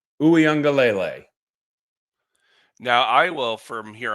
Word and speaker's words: Uiagalelei: been trying to uh figure out how to say the name it's DJ U angele now I will from